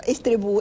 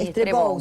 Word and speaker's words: Estrebou: Estrebou, ¿es francés? Vasco-francés, sí, Estrebou Estrebou se escribe y se pronuncia.